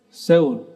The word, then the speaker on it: Seoul: Bacanya apa yang benar? Seoul.